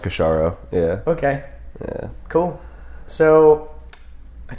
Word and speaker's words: Kashoro: my own name I like that but yes pronounced kisara okay yeah cool so I think let's just